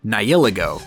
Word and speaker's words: Nihilego: Let's start with point number 1, or should I say UB number 1, Nihilego. And yes, that's how you pronounce it.